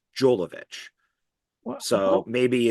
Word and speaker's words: Jovovich: And she goes, Holovich. It's Holovich. She goes, we made a whole movie together, and you still can't pronounce my last name correctly. So it's like, yeah, we're overseas. So what I noticed is European, it's Holovich. In America, it's Jolovich.